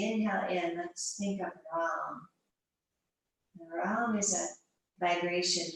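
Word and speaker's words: रं: R-A-M, the A is like a U. And the tongue is a little bit rolled on the Ram. So it's Ram. You don't have to say it out loud, but that's how it's pronounced.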